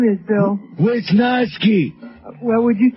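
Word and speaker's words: Wiznowski: wisnoski for me Bill it's spelled like it sounds lady wh w i z like in Wiz okay n o w like in now and ski like in what you do on the snow okay um all right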